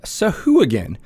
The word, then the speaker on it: Sahuagin: and today we're gonna talk about Sahu again which until recently until Matt Mercer and Marissa ray did their pronunciations on D&D beyond I called Suhag when there's a reason